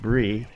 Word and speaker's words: Bree: We are here in Brie, pronounced Brie.